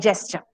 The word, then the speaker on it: gesture: pronounce it as gems so please remember gems and gesture gems and gesture remember it in tandem so you'll never forget the pronunciation so what is gesture